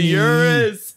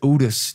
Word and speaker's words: Urus: Dude, the Urus. Oh my God. That's how you pronounce it?